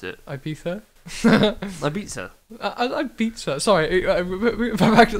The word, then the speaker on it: Ibiza: And they went to Ibiza, and they think they're, like, big Ibiza. DJs. Sorry. How do you pronounce it? Ibiza.